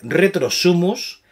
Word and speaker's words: Retro Sumus: Retro Sumus. No, que nunca lo pronuncian bien.